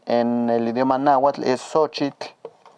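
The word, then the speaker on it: xochitl: el idioma nahat es sochit sochit Recuerden que aquí la x suena como una sh muy suave y aquí la ch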